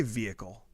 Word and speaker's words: vehicle: my wife says vehicle. What? She really punches the H, and Ew.